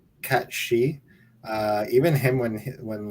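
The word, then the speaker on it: Cait Sith: It looks like it's spelled Kate Sith, but it's actually pronounced. It's a Scottish Gaelic kind of mythology name. Cat She.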